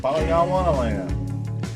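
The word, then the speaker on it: Polygondwanaland: Yeah, Polygandwanaland. That's how you say it.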